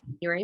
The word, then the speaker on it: Januarie: like the month so it's pronounced like the month but it's spelled different and by the way